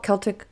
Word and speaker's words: Celtic: mythology, the magical traditions, that is or should be the one with the hard K sound. That's the older historically accurate pronunciation used in academic and cultural circles. the Celtic, like the S sound, um, version, I think, tends to show up more in like modern sports. Think of like the Boston Celtics.